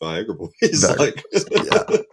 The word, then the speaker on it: Viagra Boys: Sebastian Murphy was actually on the Daily Show, and they're like, "How do you pronounce it?" He's like, "It's just Viagra Boys."